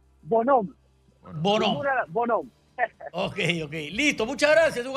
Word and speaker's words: Bonhomme: ¿Tu apellido se pronuncia Bonhomme o es Bonhomme? Bonhomme.